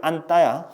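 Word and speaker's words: 안다: 근데 나는 그녀를 안따야. 허그, 안따. 근데 그걸 안따라고 발음을 하죠. 우리는 안따. 왜 된소리 되지?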